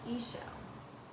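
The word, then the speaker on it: Ixchel: I don't know everything surprisingly her name is pronounced Ayesha Ayesha she's a Mayan moon goddess and I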